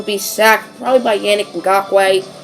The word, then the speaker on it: Ngakoue: sacked probably by Yannick Ngakoue. I think that's actually how you say it. I've always said Ngakwe. Probably Ngakoue.